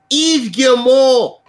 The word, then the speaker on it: Yves Guillemot: Maddie, I gotta confirm my pronunciation. Yves Guillemot basically came out and said this.